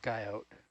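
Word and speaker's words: guyot: is a guilt or guy out coyo that's how it's pronounced chris you don't pronounce the t because it's french look at the puzzle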